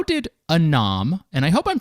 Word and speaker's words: ANOM: to jump in really broadly here how did anom and I hope I'm pronouncing that correctly it's a n o m how did aom work on the government side